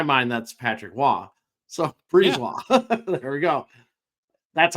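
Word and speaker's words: Brisebois: silent B in it? It's crazy. It's like Brisbois. Like, so I had to write it out as Breeze and then ROY, because in my mind that's Patrick Waugh.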